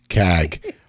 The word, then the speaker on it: CAG: The kings of accountability, CAG. CAG, hard G. When you say CAG, it sounds like you're saying vag.